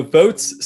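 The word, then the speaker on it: Voatz: the pros and cons of it sure so votes spelled with a z um so votes is a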